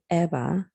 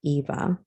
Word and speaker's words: Ebba: got it down to eba not pronounced eva and issa i decided